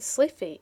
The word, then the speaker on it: slithy: The I in slithy is long as in writhe, and toves is pronounced so as to rhyme with groves.